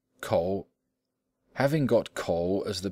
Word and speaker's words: 口: In like manner, the words for mouth, to rap, and a button were all pronounced ko.